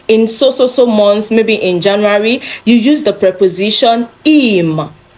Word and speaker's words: Januar: So it is Januar. Januar, not Januar. Of course, it starts with letter J, but then it is not pronounced Januar because J in German does not sound J in words. It sounds Y, okay?